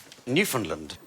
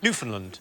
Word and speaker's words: Newfoundland: There are Is this island called Newf Finland? Yeah. I'm going to have to shoot you now. Uh, no. It isn't the correct pronunciation. Newfoundland.